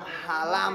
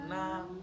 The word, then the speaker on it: Hà Nam: Nam. À đấy, phát âm chuẩn vào Nam nhé.